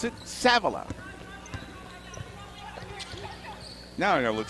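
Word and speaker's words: Savilla: back in sa a v l a she pronounces it savila now I got to look something up when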